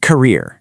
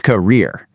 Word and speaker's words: career: First, it isn't career. It's a soft career.